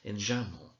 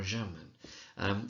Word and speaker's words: enjambment: Now, this flowing on from line to line is called enjambment, right, or enjambment. You often find students calling it enjambment. As long as they spell it right, it doesn't really matter.